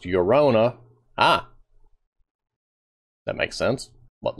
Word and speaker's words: Llorona: A game is based on famous Mexican folktale of La Llorona, pronounced Llorona.